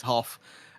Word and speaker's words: Hoff: And also, I will quickly shout out Rachel Hoff, just a point on the name pronunciation, because I did grab it during the warm-up. It's Hoff.